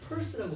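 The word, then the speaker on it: Peirce: 자, 찰스 샌들러 이거 발음하라고 적어주세요. 펄스라고 발음하라네.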